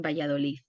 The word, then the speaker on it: Valladolid: And is the place that is the way they pronounce better Castilian is in Valladolid, and they say Valladolid.